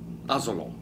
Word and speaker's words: Asolo: I wanted to talk to you today about Prosecco DOCG ASOLO, as it's pronounced in Italian, which is a tiny little picturesque village in Veneto, in the town of Asolo, and they make DOCG wines.